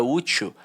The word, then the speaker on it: útil: útil e a palavra útil ela é paroxítona só que agora ela é uma paroxítona terminada em L tem o l aqui